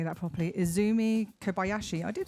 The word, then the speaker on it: Kobayashi: Izzumi Kabayashi became I can't say that properly. Izzumi Kobayashi, I did say it properly.